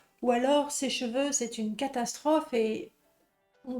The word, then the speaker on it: cheveux: parler des cheveux d'abord pour la prononciation cette lettre là se prononce E et ces deux lettres là se prononcent e exactement le même son e cheveux d'accord faites attention souvent les étudiants parlent des chevaux merci les étudiants parlent